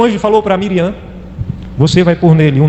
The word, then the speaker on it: Miriam: Falou para Miriam, a pronúncia em hebraico é Miriam.